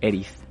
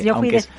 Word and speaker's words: Eriz: Casi me has presentado perfectamente, excepto el nombre que es más complejo, que es Eritz. Lo de se lee directamente, Eritz, aunque sea vasco.